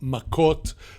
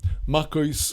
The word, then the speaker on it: Maccot: followed by Tractate Maccot, as it is pronounced by Ashkenazim, or Maccot by those using the Sephardi and Israeli pronunciation. Maccot or Maccot meaning literally